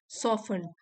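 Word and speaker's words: soften: से the minus expression सफन जो उस आदमी का चेहरे के हाव भाव थे वह थोड़े कोमल पड़ गए यहां पर भी टी साइलेंट है सॉफ मीन सॉफ्ट हो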